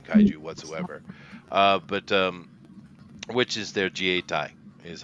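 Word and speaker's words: 自衛隊: Which is their Jietai is how you say it here, and because the Japanese aren't allowed to have an army because of their little shenanigans.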